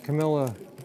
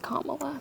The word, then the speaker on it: Kamala: it's hard talking politics I watch all of Camila um interviews her name is pronounced Kamala by the way K La really comma I